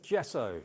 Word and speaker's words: gesso: this is the G so good gesso say it like that g so good I actually um use